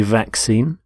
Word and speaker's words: vaccine: Note the pronunciation of vaccine. The two C's in the middle. The first C is the K sound. The second C is the S sound.